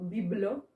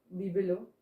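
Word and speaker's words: bibelot: Biblo. Bibelo on dit les petits objets comme ça.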